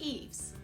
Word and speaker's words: EIFS: insulation and finish system, EIFS, pronounced eaves.